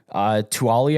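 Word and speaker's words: Taulia: Tanner Mordecai, Tuali, I believe is the pronunciation, Tagovailoa, brother of Tua.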